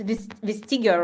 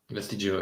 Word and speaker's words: Vestigio: Yeah, it's Vestigio, right? Vestigio, yeah. Vestigio, because in Spanish it's Vestigio or something like that.